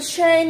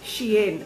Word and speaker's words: Shein: The pronunciation is Shein. I don't know if it's Shein or Shein. I think it's Shein. Shein. So it's not Shine and it's not Shane and it's not, I don't know what else.